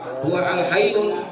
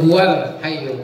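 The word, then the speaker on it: هو الحي: Iya, kalau orang enggak belajar tahsin dibacanya huwa al-hayyul. Itu huwal hayyul qayyum gitu ya.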